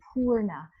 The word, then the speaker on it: Purna: So that is spelled P-U-R-N-A, but really it would be P-O-O-R-N-A if we were writing it like from the Sanskrit, Purna, a double O, a long O.